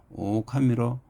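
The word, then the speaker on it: 狼: 일본에서도 에도 먹고 이전까지는 늑대를 농작의 신으로 섬겼으며 일본어로 늑대 발음인 대신과 발음이 똑같은 오카미로 이른다고 합니다.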